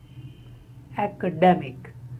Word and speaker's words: academic: Academic. The first is a as in action, apple, and the second syllable is de, a.